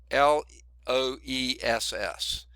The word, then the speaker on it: loess: area but over a large area that's called Loess l OE SS pronounced Loess l u SS is what it sounds